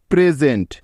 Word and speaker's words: present: যেমন দেখো, প্রেজেন্ট, PRESENT, প্রেজেন্ট, noisy, NOISY, noisy, easy, ESY, easy, pleasure, PLEASURE, pleasure.